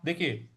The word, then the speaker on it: दुःख: ख लिखा हुआ है, तो जो विसर्ग है उसका भी उच्चारण ख ही होगा। तो दुख हो जाएगा ये, दुख, दुख।